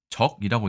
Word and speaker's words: 脊: 이게 등뼈의 뜻이 됩니다 발음은 적이라고 되어 있네요 척이 아니라 적이다 비슷하니까 넘어가도록 하겠습니다 자